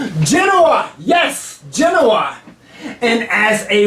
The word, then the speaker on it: Genoa: venice was at war with i'm going to pronounce it here genova genoa yes genoa and as a welcome home party